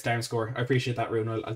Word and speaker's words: Damsgaard: uh durham score it down score is a better pronunciation it's not damn scared it's down score i appreciate that rune